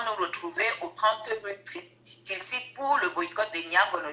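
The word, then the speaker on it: Tilsitt: 30 rue Tilsi. Tilsi, ça s'écrit T-I-L-S-I-2-T.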